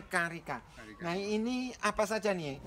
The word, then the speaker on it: carica: Karika ini ya Iya bacanya memang Karika ya tulisannya carica bacanya Karika Nah ini apa saja